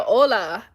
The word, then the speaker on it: hola: Oh, you're saying hola. Where's the H?